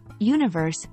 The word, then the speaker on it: universe: address common pronunciation mistakes make sure you're pronouncing Universe with three syllables Universe avoid common mistakes like dropping a syllable which can lead to